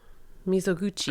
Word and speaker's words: Mizoguchi: Uh, it's Kenji Misoguchi, right?